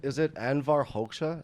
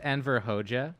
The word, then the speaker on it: Enver Hoxha: Is it Anvar Hoxha? Is that how you pronounce it? Mm-hmm. Okay. So famously, Enver Hoxha. It's pronounced Enver Hoxha.